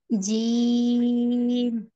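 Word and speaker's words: جيم: জি আবার বলেন আর আরেকবার বলেন জিম টান দিতে হবে আরো টান দিতে হবে তিন আলিফ মানে তিন আঙ্গুল উঁচু করতে যতটুকু সময় লাগে জিম জিম এভাবে জিম আরেকটু টান দেন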